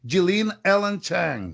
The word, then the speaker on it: Yilin Ellen Zhang: Why should they all pay attention to, let's say it correctly, Jilin Ellen Chang?